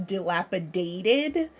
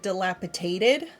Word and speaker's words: dilapidated: though I know that the word is dilapidated a lot of times people will pronounce it dilapitated and it's one of